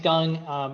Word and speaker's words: Gang: So my name's Gung. If it's easier to remember, it's pronounced like Gung Ho.